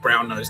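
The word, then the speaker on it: Brasenose: Attended Brown Nose College. It's spelled bra nose but it sounds like brown nose.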